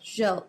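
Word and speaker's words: Gilles: we pronounce is it Jill thank Jill okay Jill is how we pronounce um uh Vanessa's last name but I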